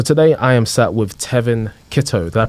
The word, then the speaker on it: Tevin Kittoe: and Nuggets so today I am sat with Tevin Kito did I pronounce the name right bro yeah you got